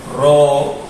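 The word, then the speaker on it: ρ: Su nombre es Ro y suena como una R o como una R.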